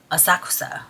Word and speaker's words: Asakusa: So throughout the city, we were in, I used to mispronounce this one city. It's called Asakusa.